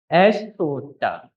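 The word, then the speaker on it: aisoota: Estuta. Do you want me to spell that?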